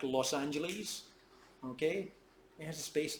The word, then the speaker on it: Los Angeles: But actually, it's sort of conditioned with itself, because the pronunciation of the S in Los is actually pronounced as a Z, and not as a S, as it is in Los Altos.